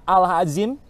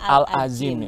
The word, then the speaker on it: Al-Azim: Sekolahnya betul. R.A. Al-Azim. Karena itu juga termasuk Masjid Besar Al-Azim. Oh, Al-Azim bacanya ya.